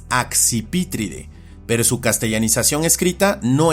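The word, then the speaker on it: Accipitridae: Así, por ejemplo, en esta familia la pronunciación es axpítride, pero su castellanización escrita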